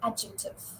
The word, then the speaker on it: adjective: Here D is silent in the spelling sequence where DJ is used. So when you say adjective, you don't say adjective.